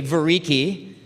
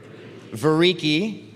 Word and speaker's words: Vereecke: And let me tell you, his last name was really hard to pronounce. So say it with me, Vereecke. Vereecke.